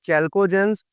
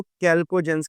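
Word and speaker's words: chalcogens: कुछ कहते हैं इसको चैल्कोजेंस, कुछ जो हैं वो इसको कैल्कोजेंस का नाम देते हैं।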